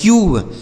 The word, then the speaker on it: cube: ठीक है, जैसे सी से हो गया का, इस यू का उच्चारण क्या हो जाएगा? यू। और बी ई से बा, यह लिखा गया है क्यूब, इसे क्या पढ़ा जाएगा दोस्तों?